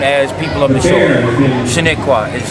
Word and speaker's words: Shinnecock: Shinnecock is how we pronounce our name.